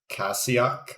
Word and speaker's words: Kashyyyk: okay but the uh the homeworld is called kashyyyk okay some other people pronounce it cassiak or something like that it's weird i've heard people pronounce it in a different way but yeah it would